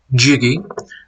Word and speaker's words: Jggyuh: Um, my real name is, but my recording name and what I'll go by for gaming, etc., is spelled out Jggyuh. But I'm just gonna go with Jiggy.